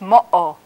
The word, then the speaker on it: motto: that's how that's pronounced an example is the Comanche word for hand which is motto if that letter we're not there it would be mall but its motto has a little hiccup in the middle so those